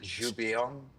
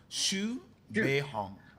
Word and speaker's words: Xu Beihong: Zhu Beiyong? No, it's Xu Beihong. Xu like SHOO and Beihong like Hong Kong.